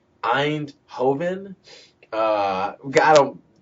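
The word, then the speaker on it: Eindhoven: pictures of the city that he lives in endover endover really yeah or Andover e i n d h o v n because I was goingon to be like Ein Hoven uh I don't pronounce I don't pronounce European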